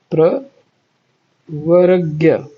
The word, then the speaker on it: प्रवर्ग्य: यद्यपि उनका स्वरूप सर्वथा स्वतंत्र है, तथापि उन्होंने प्रवगर्य प्रवगर्य नहीं प्रवर्ग्य प्रवर्ग्य प्रवर्ग्य ये इस तरह का शब्द है।